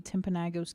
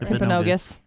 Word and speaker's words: Timpanogos: a lot Monument Valley timpanagos cave I hope I pronounced that Timpanogos there's an O and then an a Ashley a National Park